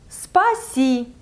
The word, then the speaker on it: спасибо: And then the second part is si, like sea water. For example, you use like a swimming pool with sea water. And спасибо. So, and it's obvious that you should say thank you after such a nice day. So, spa with sea water. Спасибо. The last part is just ba.